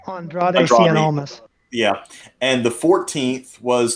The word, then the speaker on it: Andrade: the 12th nxt champion was i can't even pronounce that name andre almost oh andrade andrade yeah and the 14th was tommaso champa which